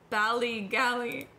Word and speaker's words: Ballygally: So, I am gonna talk about Ballygally. That's not how you pronounce it.